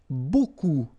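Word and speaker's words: beaucoup: Remember you don't pronounce the final p. Okay. And then you've get this combination of vowels uh a and you get the sound o.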